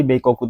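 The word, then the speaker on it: 米国: Jadi Beikoku itu sebutan lain untuk Amerika sebenarnya ya.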